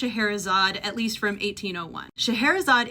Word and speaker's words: Scheherazade: into English from German, it started getting spelled this way for English readers pronounced Shaharazad, at least from 1801.